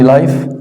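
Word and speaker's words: live: المباراه ديت لايف مباشر اذا دي تتنطق ليف بمعنى يعيش لو نطقتها لايف بمعنى مباشر لو نطقتها اليف على قيد الحياه بص اهي لو قلت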